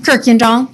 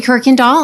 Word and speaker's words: Kirkendall: Yeah, so how do you pronounce it? Kirkendall? Just the same way then, huh? Yes. Thank you. If you would introduce yourself for the record. Yes, good afternoon. I'm Kirkendall.